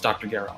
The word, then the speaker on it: Gero: And Gero is how it's pronounced in Japanese. So it's Dr. Gero.